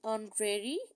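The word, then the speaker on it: honorary: इसी तरह है Pfizer is एन ऑनरेरी secretary of the club, she gets an ऑनरेरियम।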